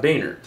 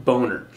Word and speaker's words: Boehner: in the House, John Boehner, whose name would really be pronounced more like Boehner in German, but he has it pronounced like that so Americans don't call him Boehner.